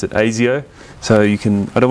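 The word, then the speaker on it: Asio: the name comes from it is actually the name of the um the basically secret police sort of equivalent in uh in Australia um well yeah we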